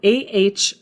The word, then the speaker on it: Ahrefs: The next one is called Ahrefs. So I'm going to say that phonetically.